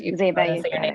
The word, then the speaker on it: Zayba: I apologize if I mispronounced you. Zyba, you got it right.